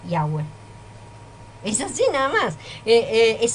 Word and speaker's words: Yahweh: Me estás nombrando las 4 letras y esas 4 letras se pronuncian Yahweh.